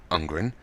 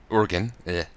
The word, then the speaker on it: Urgen: Unfred disarms Sir Ungren. Urgen. I've said his name wrong the entire time. I didn't realize it was an R.